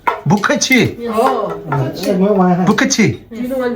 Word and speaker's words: 不客气: 不客气。 Bukhachi.